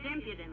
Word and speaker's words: impudent: She's too impudent. That's impudent, with the emphasis on the second syllable.